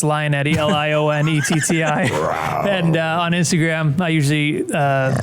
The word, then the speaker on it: Lionetti: It's pronounced Lionetti, Lionetti.